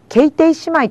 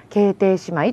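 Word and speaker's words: 兄弟姉妹: 姉妹まこれを正確に言うと決定姉妹と言います法律用語の呼び方はちょっと日常的な読み方と違う場合があります決定姉妹と言うんです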